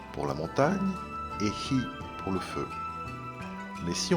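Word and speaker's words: 火: Par exemple, ce sera Yama pour montagne et hi pour le feu.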